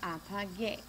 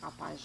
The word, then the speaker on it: apague: we have apagar becomes apague. If we had left this as just a regular G, it would be pronounced like apage, and we don't want that sound.